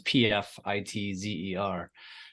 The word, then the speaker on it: Pfitzer: So it's last name looks like Pfizer, but it's not. There's a T in there and it's pronounced Pfitzer. So it's Pfitzer.